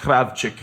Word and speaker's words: Krawcyzk: But it'd be pronounced Krawcyzk.